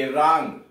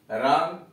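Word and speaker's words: wrong: W silent, W आर ओ एन जी, रंग, रंग, गलत, यानी यहां डब्ल्यू साइलेंट है।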